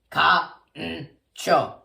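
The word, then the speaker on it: カンチョー: And it's pronounced just like how it sounds. Ka-n-cho. Okay? Ka-n-cho. Kancho. Ka-n-cho.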